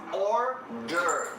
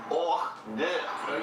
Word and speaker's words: hors d'oeuvres: Hors d'oeuvres. Is it singular? There is an S, but the S is silent. Hors d'oeuvres.